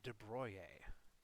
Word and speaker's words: de Broglie: going to talk about de Broglie, which I believe is how you pronounce that, or de Broglie, if you are American. But I believe the French is de Broglie or something along those lines anyway.